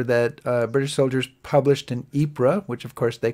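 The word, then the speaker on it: Ypres: cope with life in the trenches is the wipers times the satirical magazine newspaper that British soldiers published in epra which of course they called wipers because it's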